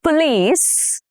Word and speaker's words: police: The police arrived on time. Police. The stress is on the last syllable, which is lease.